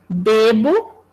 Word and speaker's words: bebo: por exemplo eu tenho bebo o verbo beber né então vamos olhar para esse e Zinho aqui um e é pronunciado como fechado beber bebo mas em algumas palavras